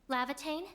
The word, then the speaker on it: Laevatain: And finally, our Levitane, which I'm going to go make sure I am pronouncing her name right. Lavatane. Lavitane.